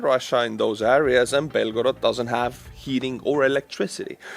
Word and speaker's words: Belgorod: Now, my friends, let's go to Russia, Belgorod, or let's say it like the Ukrainians, Belgorod.